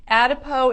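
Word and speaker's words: Adipeau: Mary says, what is Adipo? Celine, can you pop Adipo up for them to be able to see it? It's spelled A-D-I-P-E-A-U, so it's kind of that French spelling. Adipo is a product that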